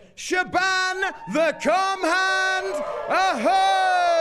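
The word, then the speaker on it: Siobhan: Shaban no is it shioon no is it Shaban I'm not even sure of course it is Shaban the cand Oho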